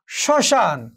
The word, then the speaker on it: শ্মশান: যদি শুরুতেই থাকে, অর্থাৎ পদের আদ্য ব্যঞ্জন বর্ণে মফলা সংযুক্ত হলে সাধারণত এর কোনো উচ্চারণ হবে না, কিন্তু প্রমিত উচ্চারণে মফলাটি একটু সামান্য নাসিক্য প্রভাবিত হয়ে ওঠে। যেমন একটু ধরো শ্মশান, এখানে যে মফলা রয়েছে এই মফলার উচ্চারণটি এখানে হয়নি, বাট একটু নাসিক্য রয়েছে।